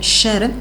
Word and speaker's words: Escher: ¿Y cuántas han pensado que Escher, que se pronuncia Sher, es un producto de